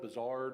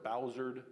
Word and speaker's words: Buzzard: didn't get out so the name Buzzard it has French Origins some people pronounced it different some people called it bizard or Bowser it was spelled different